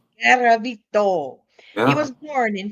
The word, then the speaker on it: Garavito: Garavito. Garavito.